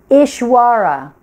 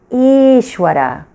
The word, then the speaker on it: Īśwara: of the word and here's a mispronunciation eshwara Ishwara that's not the pronunciation you want to hold to so listen again for the proper pronunciation Yatta good try it again each whare there you go okay so what does